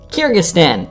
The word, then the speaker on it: Kyrgyzstan: i'm not butchering it every single time kyrgyzstan kyrgyzstan that's how we'll pronounce it so this is interesting considering we